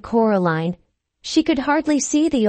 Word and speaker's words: Coraline: mice they get things wrong they got your name wrong you know they kept saying Coraline not Caroline not Caroline at all he picked up a